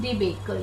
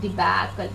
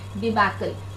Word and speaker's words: debacle: No, learn the pronunciation. It is not debacle. Debate से नहीं आया है. This is debacle. You open the mouth and say debacle.